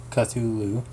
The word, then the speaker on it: Cthulhu: the walls of crass Lovecraft transcribed the pronunciation of Cthulhu as Cthulhu and said that the first syllable pronunciation got gud early better announced gut early and very thickly done early I've never seen that